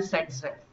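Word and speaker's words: Zaitsev: तो according to सेटजेफ rule, spelling है Z7 लेकिन उसका प्रोनाउंसिएशन होता है सेटजेफ। ये है इसका प्रोनाउंसिएशन सेटजेफ।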